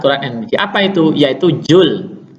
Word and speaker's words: Joule: MB apa itu yaitu Zul bacanya Yul tulisannya Joule Tapi bacanya Yul kalor itu mempunyai juga